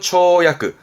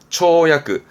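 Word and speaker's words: 跳躍: 도약입니다 도약 도약이라 하면 말하자면 점프 뛰어오르는 거죠 발음은 초야크 초야크 보이세요 부스가 같아요 그렇죠 요런 부분도 좀 봐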